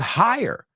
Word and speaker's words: hire: Fire rhymes with hire.